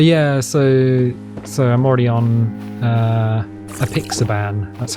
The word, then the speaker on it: apixaban: But yeah, so I'm already on apixaban. That's how you pronounce it, which is kind of like warfarin.